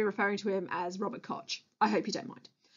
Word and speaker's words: Koch: His name is Robert Koch, to pronounce it correctly.